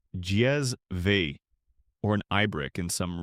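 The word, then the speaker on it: cezve: This was the kezve pronounced jezve, or an ibrick in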